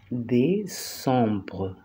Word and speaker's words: décembre: Diciembre lo vamos a pronunciar décembre. Décembre. Porque la C en francés y en español tienen las mismas excepciones, ¿sí?